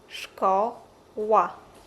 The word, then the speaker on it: szkoła: Sounds similar to English sh like in shoe, shop, and shake. Let's listen to the examples. szko ła szkoła sza fa szafa